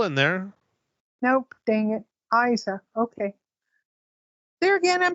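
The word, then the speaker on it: Eiza: say anything um so you pronounce her name Isa okay well it's spelled EI I Za a how would you pronounce it yeah it's Isa okay there's no l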